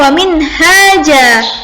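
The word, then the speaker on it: منهاجا: Bacanya wa min haja, ja bukan jan.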